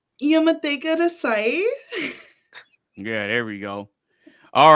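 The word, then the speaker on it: Yamete kudasai: Okay, it's Yamate Kudasai. Yamate Kudasai.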